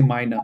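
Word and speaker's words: meiner: you will realize that we don't actually pronounce the R towards the end. On paper, you have to write, but in real life, it's just you just say minor, but you are actually not saying the R part.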